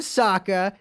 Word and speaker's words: Sokka: four five that's right i'm sokka it's pronounced with an akka young ladies i rocked